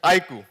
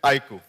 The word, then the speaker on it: iQOO: on and on its iku the pronunciation is iku I emphasize again it's iku so that was our